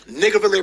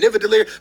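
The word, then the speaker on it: Nidavellir: to Nigavelir, and yes, you heard that right, Nigavelir, because I done tried to say it like a million times. The first time he said it, I thought he was saying Nivadelir, but then all of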